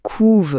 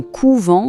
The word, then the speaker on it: couvent: L'orthographe est la même, d'accord? Mais on va dire « les poules couvent leurs œufs » avec un son bien ouvert pour le verbe, et on parlera d'un couvent de religieuses avec un son beaucoup plus fermé pour le nom.